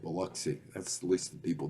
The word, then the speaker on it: Biloxi: That's how you say it, Biloxi.